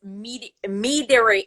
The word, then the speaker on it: meadery: what mead is and I know that it's meadery. How do I pronounce that again?